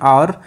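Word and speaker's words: hour: Blank rest for एन आवर। तो इसमें आप लोग सोच लीजिए इसका राइट ऑप्शन क्या हो जाएगा। तो यहाँ पे जो आवर की साउंड है, जो प्रोनाउंसिएशन है, ये जो है वोवेल की है, तो इस वजह से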